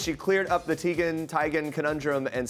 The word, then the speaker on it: Teigen: fan on Twitter that she stopped correcting people when they pronounced her last name Teigen so she just adopted the new pronunciation and she even got her mom to confirm I'm tired of living this lie it's Tigan isn't it mom while on the red